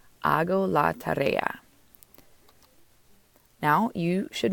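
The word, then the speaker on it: hago: it's going to be H AG o which is pronounced ah go ah go la tarea now you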